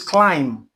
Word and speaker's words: climb: Here too, the letter B here is silent. This is climb.